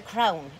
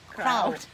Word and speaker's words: crown: It's a crown, it's not a halo. In this country, it's called a crown. I can't say it right anyway. We'll say it again. Crown. Crowd. There's an N on the end.